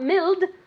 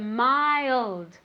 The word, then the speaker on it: mild: mild remember two syllables not milled but mild mild repeat very good summer can you say this smile very good mild with a d at the end mild can you say that